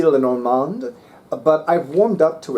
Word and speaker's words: Lenormand: maybe Len Len like I can only pronounce it the French way maybe lenormand but I've warmed up